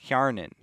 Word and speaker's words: Hjarnan: Hjarnan is how you say that.